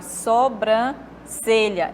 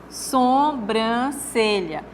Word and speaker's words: sobrancelha: vocês estão vendo aí na palavra sobrancelha Esse é o certo só o que aconteceu aqui na outra pronúncia sombrancelha Então tá vendo que